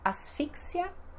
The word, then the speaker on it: asfixia: Depois temos asfixia no espanhol e no português temos asfixia. Asfixia. Então, o mais forte é o ia, asfixia.